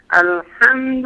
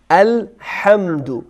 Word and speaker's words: الحمد: مثلاً الحمدلله رب العالمین الحمد الحمد دیگه درست نیست ما باید حا رو از ته حلق بگیم با دقت الحمد الحمد